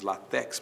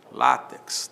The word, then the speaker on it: látex: X no final, látex, muita gente diz latex, mas não é latex, é látex, né?